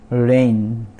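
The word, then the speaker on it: reign: फिर रेन, रेन, G silent है, रेन, REIN, तो GN यहाँ पर G साइलेंट, तो REIN इसको हम प्रोनाउंस करेंगे, रेन मतलब राज्य होता है।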